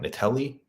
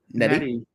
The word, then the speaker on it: Nettie: Natalie. Is that how you say it? Nettie.